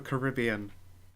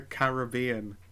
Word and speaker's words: Caribbean: You nearly said Caribbean incorrectly. It's not Caribbean? It's not the Caribbean. It's the Caribbean. As the people who live in the Caribbean pronounce it. Caribbean.